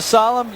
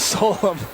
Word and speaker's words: Solom: SID, Bruce Mahdi, and said, all right if I go back to my old name now the way I used to pronounce it? When Bo calls you Solemn, you answer, even if your name is Solom.